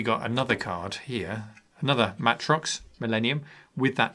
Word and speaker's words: Matrox: So the first thing I've chosen for the video card is this, the Matrox Millennium. I used to call it Matrix, but apparently Matrox is the proper way to say it.